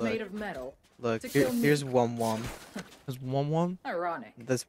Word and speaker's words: Wom Wom: Look, made of metal look here's Wom Wom. That's Wom Wom? Ironic. That's Wom Wom. Wait, how do you spell it?